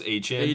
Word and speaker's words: Etienne: I forgot that Trevor probably- Etienne's name is actually pronounced HN.